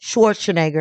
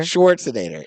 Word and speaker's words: Schwarzenegger: Schwarzenegger. Schwarzinator. Oh, how are you pronouncing the end of it? Nater. Nger. I said nater. No, it's not. It's N for G.